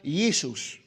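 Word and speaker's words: Ἰησοῦς: yoshua es hebreo y yisus yus ahí como está pronunciado es griego la J no existía en esos tiempos en el alfabeto griego Entonces se se pronunciaba yisus verdad Entonces de ahí es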